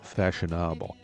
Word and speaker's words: Façonnable: have actually pronounced it Faconnable. I think it's a little bit of an unfortunate name for a fashion brand because Façonnable sounds an awful lot like a fancied up version of fashionable.